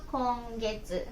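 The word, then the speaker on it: 今月: 今月って書くのは、今月は今月と読みます。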